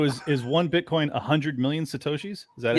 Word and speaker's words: Satoshis: So is one Bitcoin 100 million Satoshis? Is that how you say it? Yes, it's 100 million Satoshis.